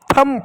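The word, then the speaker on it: thumb: ठीक उसी प्रकार इसको टी एच यू एम बी थंब पढ़ते हैं। थंब नहीं थंब थंब इसको क्लाइम क्लाइम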